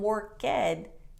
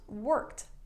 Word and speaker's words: worked: the t sound so work does not become war ked it's pronounced worked worked laugh like hahaha laugh is not la